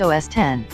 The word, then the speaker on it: OS X: the recent versions are known as OS X pronounced OS 10 and the specific versions